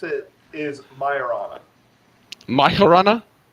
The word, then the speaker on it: Majorana: pronounce it is Myron my horana like more of an H sound or a y sound okay okay see I